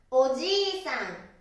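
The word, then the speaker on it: おじいさん: おじいさん、おじいさん、おじいさん。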